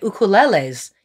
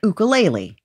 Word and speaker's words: ukulele: They were raising money to get ukuleles into their school. Wow. Yeah, it's pretty cool. See, she said it right. Mm-hmm. Here in Los Angeles, you say ukulele. Or ukulele. Ukulele, but we say ukulele, which I have to